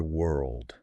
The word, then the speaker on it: world: The word world. W O R L D. It feels like your tongue is trying to tie itself into a knot. It is an absolute workout for your mouth because it requires a complex transition between two challenging consonants.